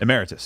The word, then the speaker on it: emeritus: How do you pronounce it? Emeritus.